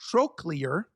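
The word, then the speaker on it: trochlear: So that's pronounced trolear.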